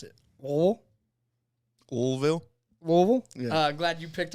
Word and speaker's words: Louisville: So I believe they pronounce it Louisville.